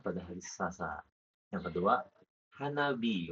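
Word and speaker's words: 花火: jadi Jadi bukan anak anak Hanahi jadi Hanahi. Hanabi gitu. Iya, jadi kadang kalau kanji lain ketemu beberapa kanji itu kalau ketemu kanji lain bisa berubah pengucapannya. Kayak jadi dari hi jadi bi.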